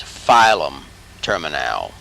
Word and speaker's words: filum terminale: one's a little tricky it looks like it's filament but it's filum terminale filum terminale cauda equina gray commissure